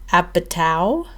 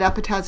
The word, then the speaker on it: Apatow: I was listening to a podcast today with Armchair Expert with Judd Apatow. Oh, is that how you pronounce it? Apatow?